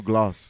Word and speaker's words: glass: Like I gotta say it like you, Gloss. He said Glass.